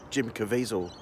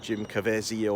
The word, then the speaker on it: Caviezel: but I've always said Jim Caviezel I've always said it that way uh some Americans are saying Jim cavazio or some other pronunciation but I'm personally I call him Jim Caviezel and I've always liked